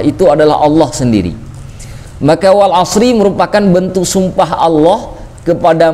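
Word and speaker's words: وَالْعَصْرِ: Nah, makanya di dalam surah Al-'Asr tidak dibaca wal 'asru, juga tidak dibaca wal 'asra, dibacanya wal 'asri.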